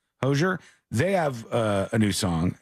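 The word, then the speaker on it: Hozier: Is it Hosier? How do you say that person's name? Hosier.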